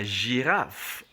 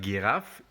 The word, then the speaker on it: girafe: And when we pronounce la lettre G in words, it actually still takes the J sound, but not J. It takes the J sound. And so we are going to pronounce it this way as la girafe. Remember, not like giraffe, because it will not take the G sound, it will take the J sound. So we say la girafe.